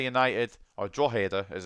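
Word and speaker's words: Drogheda: Sen Pats getting the top four bottom three drader United or dader as it's actually pronounced um I'm not allow so I will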